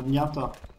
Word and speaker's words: Nyata: Nyata. it's as you pronounce it now, Nyata.